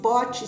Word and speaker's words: Pot: pote Quebrado só que esse pote se escreve p o t mudo não tem o é pote quebrado que